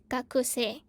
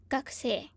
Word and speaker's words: 学生: You can see each word will be pronounced as 学生. But in Japanese, if you want to sound natural, you would, shorten this ku and then you say 学生.